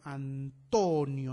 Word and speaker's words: Antonio: Antonio, ¿dónde está el énfasis en Antonio? Antonio, ¿no es cierto? En to.